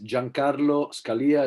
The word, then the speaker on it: Giancarlo Scalia: you can you can search my name is giancarlo scalia it's difficult to to spell maybe you can